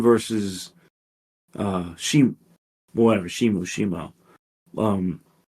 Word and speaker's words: Shimo: sorry shimo which is no I think it's pronounced shimu I don't it's pronounced shimo I mean not pronounced it's spelled shimo sorry